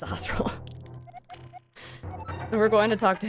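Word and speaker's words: Sahasrahla: Fun fact, I did not know how to say his name when I was younger, so I could call him like Shashar Alahala, but it's Sahosa.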